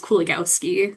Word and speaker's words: Kuligowski: Um my last name is pronounced Kuligowski. So it sounds a lot different than how it's spelled but anyway I'm an adviser like Amanda mentioned in uh our bio and neuroscience department.